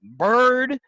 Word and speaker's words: Byard: Kevin Byard, Bird, Yep. Byard.